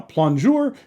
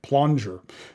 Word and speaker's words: plongeur: 365 plure from narwhal now plure is spelled p l o n geur and you know in American that kind of looks like pler um but plure is